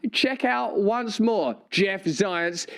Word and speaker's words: Zients: Check out once more Jeff Zients. His name rhymes with science, and he's yearning for a winter of death.